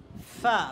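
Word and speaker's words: فا: তাহলে কি wine wine wine এর পরের হরফটা দেখো ফা, বলো ফা, ফা, ফা। ফা বলার সময় আমার দিকে তাকাও। ফা বলার সময় শুদ্ধ উচ্চারণ হলো উপরের দাঁত নিচের ঠোঁটের সাথে লাগাতে হবে।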